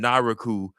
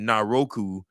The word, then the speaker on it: Naraku: So, NXT needs to get the uh pronunciation of Naraku's name down quickly. The crowd caught followed the example of Mike Rome and called him Naraku. Booker T kept saying Naroku and Vic Joseph kept emphasizing the second syllable over the third.